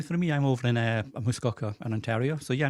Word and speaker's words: Muskoka: My wife says it's Muskoka, and I've been saying Muskoka for the longest time.